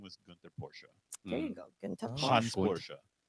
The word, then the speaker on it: Porsche: Again, the E. Don't forget the E at the end. It's Porsche. What does Porsche mean? It's not just Porsche.